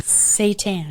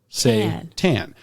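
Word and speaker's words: seitan: my first time eating satan satan not satan again not the prince of darkness say tan this is also called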